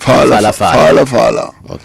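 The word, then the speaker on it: Phalaphala: Falafala is spelled P-H-A-L-A-P-H-A-L-A. So it's Palapala, but Falafala.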